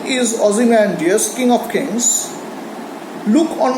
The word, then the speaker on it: Ozymandias: painter syllabic war today Shelley however pronounced obviously pronounced it as a four-syllable word and that's the way in which he metrically uses it what's the meaning of the word Ozymandias why did he use